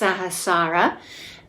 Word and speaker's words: Sahasrara: So that's pronounced Sahasrara, and it translates as the 1,000-petaled lotus, or the thousandfold.